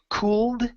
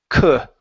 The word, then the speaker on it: could: and this word here the L is silent so instead of saying cooled it's C could could okay okay one more